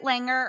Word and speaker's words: Langer: pronounce your last name is it Langer or have I completely butchered it perfect the way you said it love it and she